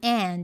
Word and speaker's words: and: Quando temos o and no meio de uma frase, é comum encontrar a pronúncia dele como an, ao invés de and.